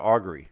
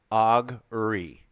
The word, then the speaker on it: augury: like players handbook so I just called it augury right three syllables augury so I'm not doing